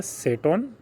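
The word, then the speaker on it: 整頓: पहला जो होता है वो होता है सीरी, दूसरा होता है सेटोन, तीसरा होता है सीसो, चौथा होता है सिकेट्सु और पांचवा होता है सित्सुके।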